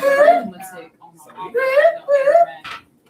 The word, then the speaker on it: arithmetic: No, arithmetic. That's arithmetic. Okay, so Alicia's already started. That says arithmetic, not arithmetic. I said the same thing. Okay, don't ask me why they pronounce it arithmetic, but they do.